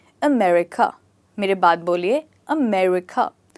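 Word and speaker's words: America: सकता है तो यह होता है अमेरिका जी अमेरिका मेरे बात बोलिए अमेरिका जो र है इसमें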